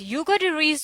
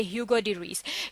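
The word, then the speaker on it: Hugo de Vries: ह्यूगो डी रीस जो थे, अगर हम ये फ्रेंच प्रोनाउंसिएशन है, अगर हम इनकी इंग्लिश प्रोनाउंसिएशन देखें तो हम इन्हें कहेंगे ह्यूगो डी रीस।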